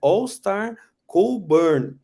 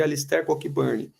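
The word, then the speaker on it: Alistair Cockburn: cara né All Star na pronúncia correta é All Star cool Burn mas eu passei muito tempo chamando o cara de alicercock Burn por exemplo eu chamava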